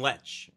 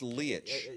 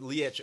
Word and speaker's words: Leitch: I've been saying Lech. I think it's Leitch. Leitch? Okay, which is better because I hate it saying, particularly nowadays, Leitch. Yeah, I think it's Leitch. Anyway. So Leitch, okay, who I like